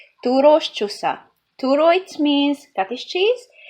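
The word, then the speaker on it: Túrós csusza: We call it, I don't know, you cannot pronounce it probably, but it's called Turos csusza.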